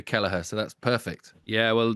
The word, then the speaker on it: Kelleher: I'm delighted as well with the Irish because everyone can pronounce my surname over your way. I get all sorts of different versions over in the UK and everywhere else, but the Irish know how to do Keller, so that's perfect.